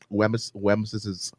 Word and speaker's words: Wemyss: I didn't show you the name. I show you how they pronounce it. It's like WEMYSS. That's Wims, no? I''S. Wems's bite. Wems's bite. They say that's how you're supposed to say it?